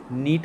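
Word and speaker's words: knit: तो मतलब किल किल मतलब जान से मारना नीट मतलब क्या होता है तो नीट मतलब होता है बुनना के साइलेंट है नीट मतलब बुनना नीट नीटेबल मतलब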